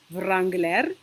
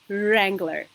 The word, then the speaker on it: Wrangler: mean writing okay so the famous make of the car is um not Wrangler as some Armenians say but it is Wrangler okay Wrangler um CH